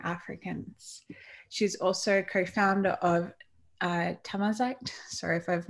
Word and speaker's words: Tamazight: And you did almost pronounce it correctly. It's Tamazight.